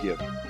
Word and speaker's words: gib: To me, it just doesn't sound right pronouncing it Jib. It's like, oh, Jib. Like the jib of your boat. Yeah, no, I call it Gib.